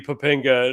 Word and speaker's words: Papinga: It rhymes with Topanga too. It almost rhymes.